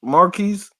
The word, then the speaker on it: Marquise: Mark, Marquise.